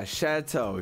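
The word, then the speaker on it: chateau: what word is this how to pronounce it's called a chatau shut up Chad thank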